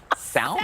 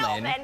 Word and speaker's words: salmon: Elizabeth says, if they pronounce the word salmon and sound out the L like Salmon? salmon.